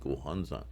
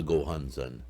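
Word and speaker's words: Gohonzon: with a nichiren inscribed gohansa mandala i keep correcting myself because the habit is ingrained this is the mandala of the gohansan so let's say it correctly okay moving on the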